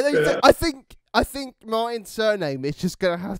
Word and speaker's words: Martin: differently exactly i mean my name in my language is for us martin in in french it's yes first week back